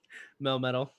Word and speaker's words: Melmetal: Melmetal.